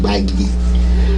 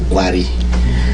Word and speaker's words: Bagi: I come from a minority group in Nigeria, north central Nigeria, called Bagi, which the Hausa man cannot pronounce very well. He said Gwari.